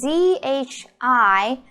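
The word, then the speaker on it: 知: all right it's pronounced okay with the zhi I doesn't do anything you can forget about how to pronounce the I sound your lips looks like this and then you could curl your tongue so okay first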